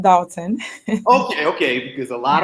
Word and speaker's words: Dolton: going bad what's going on here it's still pronounced dalton okay okay because a lot of people nowadays are calling it dawson so it's official now i'm right they're wrong